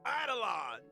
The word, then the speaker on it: Eidolon: ending, Trailblazers can acquire Stellar Jade and March 7th, the Hunt's Eidolon.